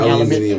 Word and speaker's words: aluminium: You mean Aluminium.